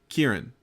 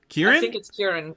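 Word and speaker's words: Ciarán: or t c-i-a-r-a-n -c-i-a-r-a I think Kieran Kieran in Irish like Kieran Culkin but not spelled like an American Irish Irish actor language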